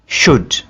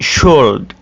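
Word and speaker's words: should: को प्रोनाउंस करेंगे या या दूसरा लज है शुड इसको आप कैसे करेंगे शुल्ड यह बड़ा मुश्किल हो जाता है इसलिए यहां पर एल को ड्रॉप कर दिया जाता है तो आइए कुछ और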